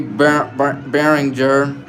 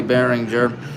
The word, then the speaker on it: Behringer: Carly Behringer, that's how you say it, Carly Behringer.